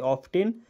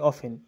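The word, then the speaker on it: often: অফেন কে আবার দুই রকম ভাবে উচ্চারণ করা যায়। একটা হয় অফটেন আরেকটা হয় অফেন। এই দুটোই ঠিক। তোমরা যেটা খুশি করতে পারো।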